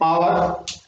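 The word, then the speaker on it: hour: Next है आवर, आवर, यहां पर फर्स्ट साउंड ऑफ प्रोनाउंसिएशन क्या है आ, एच यहां पर साइलेंट है तो हम यूज करेंगे किसका एन।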